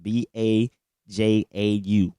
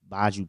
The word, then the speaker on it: Bajau: It's an Asian tribe called the Baju people, Bajau, Baju people. I believe that's how you pronounce it.